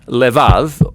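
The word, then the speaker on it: לבב: We're going to look at the fourth key word in this prayer, heart, which in Hebrew is sometimes pronounced levav, or more often in a shorter form, lev.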